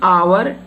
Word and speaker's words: hour: Fourth is, he was an hour late. Again here hour H. H-O-U-R. The spelling of hour is H-O-U-R. H-O-U-R. Understand? But we are not pronouncing this H word, H letter.